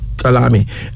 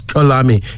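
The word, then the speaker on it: Xolani: That's the pronounce. Kalami. And it's spelled funny. It's X-O-L-A-N-I. Pronounced as Kalami.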